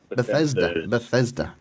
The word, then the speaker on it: Bethesda: in them now get me I can never pronounce this word right is it Beth C's Beth Easter the cedar Bethesda Maryland after Stafford of Washington DC's with DRG